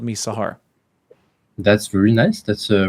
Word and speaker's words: Sahar: How do you say it? Sahar.